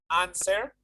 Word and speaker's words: answer: Answer. Answer? It is not answer, it is answer without the W.